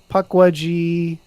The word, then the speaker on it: Pukwudgie: Is that pronounced Pukwudgie? Pukwudgie, yes.